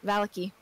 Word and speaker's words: Vallaki: It's like when we pronounced that town in, what was it? It was in Barovia, in the town, Valakai? And you hated... Yes, Vallaki.